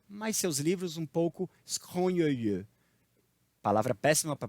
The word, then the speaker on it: scrogneux: um homem agradável, mas seus livros um pouco scrogneux. Palavra péssima para pronunciar em francês.